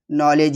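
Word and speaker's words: knowledge: अगर डी के बाद जी आता है तो डी साइलेंट होता है। जैसे एज नॉलेज यहां पे देखो डी के बाद जी आ रहा है तो साइलेंट है।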